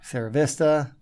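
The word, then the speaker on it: Sierra Vista: little bit below average SRA Vista SRA Vista that was nicely said yes I always default to the Spanish pronunciation of Spanish words as you should that's what they're for um s Vista has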